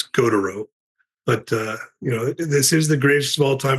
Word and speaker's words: Gautereaux: It's Gautereaux.